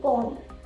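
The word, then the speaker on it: calm: ब नहीं बोलते हैं, उसे बोलते हैं कॉम। ठीक है, जैसे कि टूम है, वॉर्म है, तो ये इस तरह से होता है। ठीक है, वो एम के बाद जब भी आएगा तो वो साइलेंट हो जाएगा।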